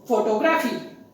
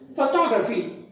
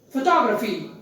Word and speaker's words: photography: without the stress and the stress also on the second syllable top so the correct pronunciation is photography photography look at the language